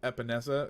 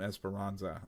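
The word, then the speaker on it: Epenesa: Now, I would have liked to have seen this with an AJ Epinesa. Is that how you say it? Yes. I almost wanted to call him Esperanza.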